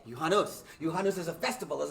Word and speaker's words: Juhannus: telethon is to celebrate you hanus did i say it right you sure did yuhanos johannes is a festival